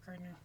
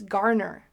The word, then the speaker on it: Garner: Gardner? Did you know that? It's Garner.